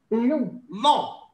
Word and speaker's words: long: Long. Donc, en français, on ne dit pas long. Hein? The letter of G. We don't pronounce the G, so we said long.